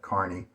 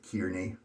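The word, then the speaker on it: Kearney: so I know that you pronounce that Carney instead of kiery or something like that and carne is interesting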